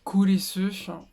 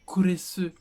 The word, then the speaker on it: Kurisu: En fait, kurisu, ça ressemble à Chris. Vous voyez, kurisu. On entend un peu le Chris.